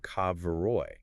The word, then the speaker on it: Kabeiroi: He points out that the Latinized spelling Cabiri actually obscures how the ancient Thracians and Macedonians would have pronounced it. Right, because they didn't have that hard C sound in the same way. Right. He argues the original pronunciation was closer to Kabeiroi.